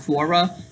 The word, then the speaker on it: Quora: So now here's someone saying that Super Sonic can run faster than the speed of light on Quora, Quora, I think it's pronounced Quora.